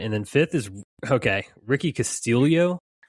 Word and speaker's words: Castillo: I didn't realize it's Castillo, not Castillo. Yeah, he was an ex-Florida Gator. Yeah, I guess he's Filipino, so that's why it's pronounced like there's an I in there, but there's not one.